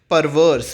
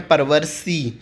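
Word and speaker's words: perverse: Okay, next word is परवर्स। परवर्स का मतलब होता है, देखिए यहाँ पे ई साइलेंट है, आपको ऐसे नहीं पढ़ना है परवर्सी, परवर्स इज़ द प्रोनाउंसिएशन, ठीक है।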